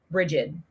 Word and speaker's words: Brigid: The Irish version is Bríd, and the English version is Brigid.